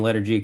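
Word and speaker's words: LETR G: Um and everything's under the same Letter G Custom Baits uh name, so. L E T R Yep. space G. Yeah. So you say it like you're saying the letter G, but the I guess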